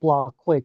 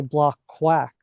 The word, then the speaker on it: Blockquake: like it's it's pronounced blockquake blockchain earthquake right uh that was how we came up with the name but folks often mispronounce it and they say block quack often like quack like